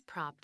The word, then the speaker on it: propped: 발음부터 propped 자, P나 K나 T 같은 이런 성대가 울리지 않는 자음, 크, 프, 트 이런 자음 뒤에 ed는 t로 발음이 되고 소리가 살짝 붙으면서 propped against, propped against, propped against, propped against 이렇게 발음이 돼요.